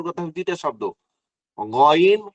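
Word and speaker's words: غ: হলো শুরু থেকে, এই যে গলার শুরু থেকে উচ্চারণ করতে হবে দুইটা শব্দ, গইন খ।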